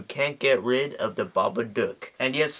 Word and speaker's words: Babadook: get rid of the Baba duck and yes this is an Australian film so the proper way to pronounce it is the Baba dick but I mean as